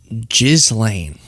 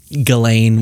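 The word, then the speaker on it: Ghislaine: I just never understand when people pronounce it that way. Gile, I think, is Gile is the way that I've heard it pronounced, but Galain works. Gizlane, Jizlane is maybe on on the no side in my opinion, but whatever, you know, to each their own.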